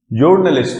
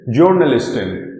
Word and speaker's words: Journalist: is journalist or journalist because this word particular word is derived from english language this particular word is